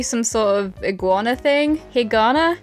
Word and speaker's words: Higana: sort of iguana thing Hagana it kind of sounds like the word hiragana but I wasn't a